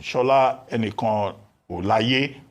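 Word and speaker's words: Shola Enikanolaiye: Now, as for foreign direct investment, Shola Enikan Olaye, that's the correct pronunciation.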